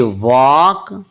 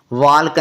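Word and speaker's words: walk: चक चालक नहीं पढ़ना डब्लू एल के वक वाल्क नहीं पढ़ना एफ ओ एल के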